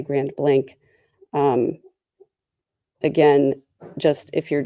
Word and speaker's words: Grand Blanc: I want to say Grand Blanc, Michigan, but I think the locals say Grand Blank.